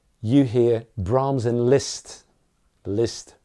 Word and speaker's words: Liszt: Liszt rhymes with pissed.